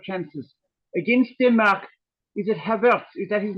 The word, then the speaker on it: Havertz: Against Denmark, is it Havertz? Is that his name or pronunciation? Yeah, Havertz, yeah.